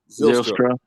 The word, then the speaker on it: Zylstra: How you pronounce it, Mike? Zylstra. Yeah, Zylstra. Zylstra.